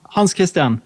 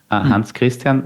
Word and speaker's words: Hans Kristian: How do I pronounce it correctly? Hans Kristian, how are you? Hans Kristian, yes.